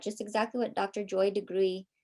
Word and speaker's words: DeGruy: Joy DeGruy, or DeGruy is the way that she pronounces her last name.